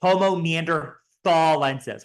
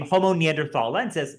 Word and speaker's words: Homo neanderthalensis: pronounce the species name homon Neanderthal lenses like that um and this is because the old German word for Valley was Thal so neander Valley was